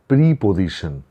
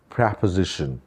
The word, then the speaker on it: preposition: मिसाल के तौर पे हम अक्सर ये कहते हैं प्रीपोजिशन. दोबारा से रिपीट कर देता हूँ, प्रीपोजिशन. ये बिल्कुल गलत तलफ़्फ़ुज़ है, गलत प्रोनाउंसिएशन है. हमें इसको कहना चाहिए preposition.